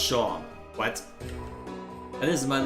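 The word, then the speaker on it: Seam: The name's. Pronounced Shaw.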